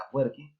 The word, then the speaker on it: Afwerki: como lo queramos escribir, la pronunciación sería Afwerki, más adecuada, crea una dictadura en la que las elecciones, pues bueno, no son muy necesarias.